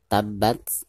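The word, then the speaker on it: تبت: the Abdillah Aby wattab perhatikan dari huruf ta itu langsung ditekankan ke hurufba karena hurufba disini adalah huruf mustard atau Cut yang bertasydid maka cara membacanya itu harus langsung ditekankan tabrak seperti itu ya tabat Nah ketika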